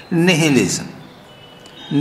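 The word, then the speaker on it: nihilism: शून्यवाद यहाँ पर इंग्लिश में कहा है निहिलिज्म। निहिलिज्म, निहाइलिज्म, एक्चुअली उसका प्रोनाउंसिएशन होता है निहाइलिज्म।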